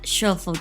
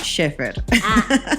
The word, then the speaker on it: Schaeffer: Y sí, tenemos con nosotros a Luis Armando y a Schofield. Siempre tengo miedo de pronunciar mal tu apellido. Schaeffer. Schaeffer. No es como shuffle de iPhone.